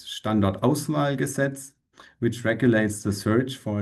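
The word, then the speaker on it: Standortauswahlgesetz: So the German pronunciation is standard oval gasets which regulates the search for a deep geological repository for high level waste.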